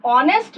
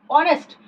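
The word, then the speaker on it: honest: अब ऑनेस्ट मैन में आपका एच साइलेंट होता है, यानी साउंड किसकी आ रही है? ओ, ऑनेस्ट यानी ओ की साउंड आ रही है, ओ ऑनेस्ट, तो हम एन ऑनेस्ट मैन बोलेंगे, ए नहीं, क्योंकि एच की साउंड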